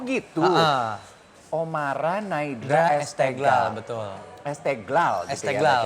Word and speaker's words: Esteghlal: Esteglal gitu Esteglal, ya bacanya.